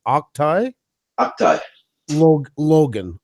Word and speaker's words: Octai Logan: No, here's how we found out to pronounce his name. It's Octai Logan.